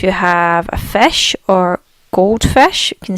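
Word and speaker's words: Goldfisch: is in English, but the way they pronounce gold is very different. If they say gold, again the D's get a bit of a T sound.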